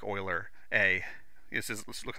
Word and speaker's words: Euler: with like 20 steps way better than like Euler a this is let's look at Euler but it's pronounced Euler that's like a French dude who like did